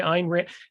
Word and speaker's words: Ayn Rand: the Fountain Head by einrant they always say it rhymes with mine but you kind of hear the why in there if you're saying it